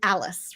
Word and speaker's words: Alles: sure that I'm I'm pronouncing your name right at last name Alice right that's right yes all right I asked that